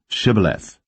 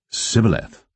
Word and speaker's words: Shibboleth: If he said, Nay, then said they unto him, Say now, Shibboleth. And he said, Sibboleth, for he could not frame to pronounce it right.